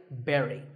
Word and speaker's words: bury: like that right but this word sounds just like the bury in strawberry so once again berry but back to silent